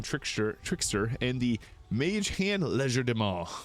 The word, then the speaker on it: Legerdemain: And then at level 3, this is when we get our Arcane Trickster and the Mage Hand Legerdemain, which is a French word. English people can pronounce it Legerdemain.